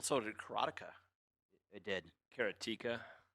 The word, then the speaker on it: Karateka: well so did karateka it did karateka keratica hey I could mispronounce it however I want like a heart artery of the plug but you noticed he pronounced it so it rhymed with erotica well yeah it doesn't